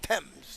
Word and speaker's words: Thames: Thames.